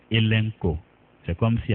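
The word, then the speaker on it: ἐλέγχω: H o ETCO mais ça se prononce elenko c'est comme s'il y a un N après le deuxème e elenko c'est le mot convaincre le verbe convaincre elenco et il signifie pour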